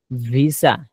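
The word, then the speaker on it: visa: পরে হচ্ছে ধরেন যেমন ভিসা, ভিসা, এই যে ভি এখান থেকে দুই ঠোঁটের নিচে, দুই ঠোঁটের এখান থেকে ভিসা।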